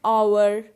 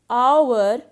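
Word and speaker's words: hour: and honest man and our now notice the word our and honest so in both these words h is silent so our and honest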